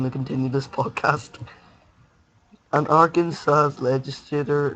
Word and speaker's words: Arkansas: these people get me registrators Arkin sauce I pronounced it Aransas no no I pronounced it that on purpose Arkansas must be pronounced Arkansas at Arkansas State University two people cannot hold